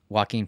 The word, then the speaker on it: Joaquin: Joaquin Phoenix. Oh, I've been saying it wrong for a while. What the hell? Pause. How do you say Joaquin Phoenix's name? Joking Phoenix.